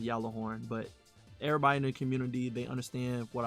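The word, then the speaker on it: Gjallarhorn: There was a big difference compared to a player that didn't have a Galah horn on his account and a player that did have a Galahorn in his account.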